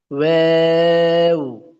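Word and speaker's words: و: ওয়াও ওয়াও ওয়াও, ওয়াও ওয়াও ওয়াও, অটা উচ্চারণের সময় ঠোঁটটা একদমই গোল থাকবে, কথা বুঝতে পেরেছেন? অটো উচ্চারণের সময় একদম ঠোঁট গোল থাকবে।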